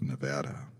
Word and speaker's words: Nevada: I understand it's pronounced Nevada.